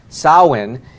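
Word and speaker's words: Samhain: sa ma che h AI n but it's pronounced Sawa n-- and it's and that is literally where we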